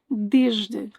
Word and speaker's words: desde: Desde, hoje, de, manhã. Both desde and hoje have E's at the end, which in Portuguese will not be pronounced. These are mute E's.